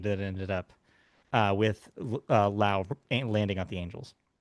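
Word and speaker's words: Josh Lowe: But yes, not to be confused, Josh Lao, even though he's spelled the same way, is pronounced differently.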